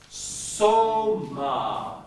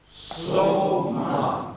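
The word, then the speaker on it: σῶμα: Now here's how you pronounce the next word. Soma. Your turn. Soma.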